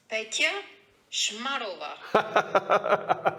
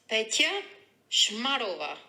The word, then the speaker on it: Petya Shmarova: Don't worry, it's Petya Shmarova. I was scared how to pronounce the name, so I thought I'd send a little message. Petya Shmarova.